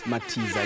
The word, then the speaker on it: Matiza: dress up and address me about pronouncing his surname wrong, maybe. How you doing? I'm good. How you doing? It's Matiza, right? Matiza, yeah.